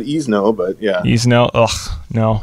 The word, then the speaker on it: Esnough: Esnough. Ugh. No. Esnough. it's pronounced like Fresno, right?